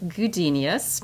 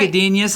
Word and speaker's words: Gudenius: We're going to talk to Matt Gudenius, and his name. Wow, easy for you to say. His name rhymes with genius, and I think he kind of could be considered a genius.